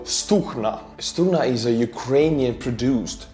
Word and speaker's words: Stugna: this is stugna well ukrainians pronounced their G's as so stukna Stunna is a Ukrainian